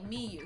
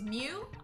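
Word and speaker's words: Miu: than you oh oh i've been saying it wrong i've been saying me you so it's mew okay got it like like the pokemon cool if the culprit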